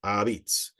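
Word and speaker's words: 'a pizza: was probably and originally we see a apostrophe p i z Za a but pronounced abits if you see it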